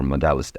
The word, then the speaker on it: Modelist: So the last one on our list here or in our video is Modelist, or Modelist as you would pronounce it.